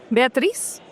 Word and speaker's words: Beatriz: I have our amiga Beatriz, but I think it's not the right pronunciation. Beatriz, yeah, it's okay. You do it a little bit different in Portuguese. Beatriz?